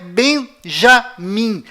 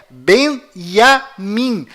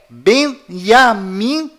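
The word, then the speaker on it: Binyamin: é iu além disto não é Benjamim a pronúncia correta é benyamin pois lembre-se até hoje não existe em hebraico nenhuma letra com som de J confira é benyamin se você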